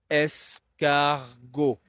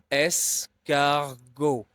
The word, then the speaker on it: escargot: And finally, G O T is pronounced as go because the T at the end of a word is very often silent in French.